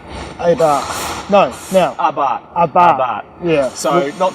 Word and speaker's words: Abarth: Like Abarth. No, now. Abarth. Yeah. So not to be too precious about it or car wanker at all, but it is actually Abarth. And the Steve R is silent.